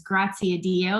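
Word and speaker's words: Graziadio: the business school um pepperdine university we it's grazia dio if you're wondering how to pronounce that and we have a bachelor's of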